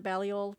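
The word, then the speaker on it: Balliol: reading classic said baliol how do you pronounce that do you know it's a bally old college uh so murray describes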